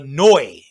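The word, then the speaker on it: Neu!: room floor was a noi and the way it's a german name the way you spell it is n-e-u exclamation point noi were one of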